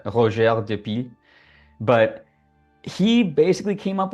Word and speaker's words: Roger: butcher his name uh if you just read it like phonetically in English it's Roger the the piles but I think it he was French I think it's uh roer but he basically came